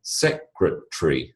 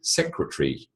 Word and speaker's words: secretary: say it the same when you say secretary secretary you're effectively eliminating the a only in your pronunciation not when you spell it so just because you